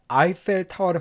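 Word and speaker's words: Eiffel Tower: 우리 한국말로는 에펠탑이라 그러지만 영어로는요 발음을 에페타워를 간다는 거 즉 에펠탑에 대해 당신이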